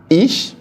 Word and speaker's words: ich: looking at them together again I'm going to pronounce all of them one after the other ish do air Z s via ear Z Now